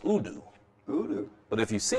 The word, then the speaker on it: udu: And it's pronounced udu.